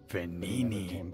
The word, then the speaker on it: Venini: Venini, that's how you say it.